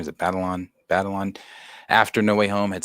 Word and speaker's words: Batalon: Batalon.